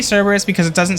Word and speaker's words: Cerberus: I think, correct me if I'm wrong, but I'm pretty sure that the correct pronunciation of Cerberus is Kerberos. I think. I think that's how you actually pronounce it, but I say Cerberus because it doesn't sound as stupid and dumb.